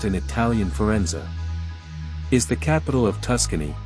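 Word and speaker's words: Firenze: till the end Florence the Italian city is pronounced in Italian Forenza is the capital of Tuscany Central Italy built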